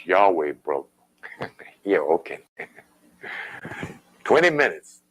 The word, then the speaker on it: Yahweh: name of God is Yahweh. It's Yahweh, brother. Yeah, okay. 20 minutes, you know. Yeah. Clearly in the Hebrew, it has 4 glyphs. How can you get 2 syllables out of 4 glyphs?